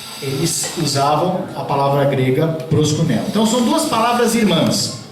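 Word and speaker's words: προσκυνέω: Tem um i lá, mas a pronúncia é proskuneo, que é o equivalente da palavra em hebraico shahar, né?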